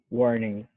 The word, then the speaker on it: warning: next one i'll say warning that sounded good warning warning without g sound warning ing the the g is very subtle it's like yeah that's the g it's like the ng together warning warning okay so